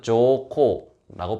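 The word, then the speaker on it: 上皇: 그리고 헤이세이 천황 같은 경우에는 아직 헤이세이라고 부르면 안 되는 게 돌아가시지 않았으니까, 그럴 경우에는 한자로 상황, 일본어는 조코라고 부른다고 하네요.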